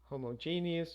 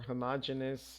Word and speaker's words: homogeneous: Identical twins are homogeneous or homogeneous. I've heard it pronounced both ways genetically.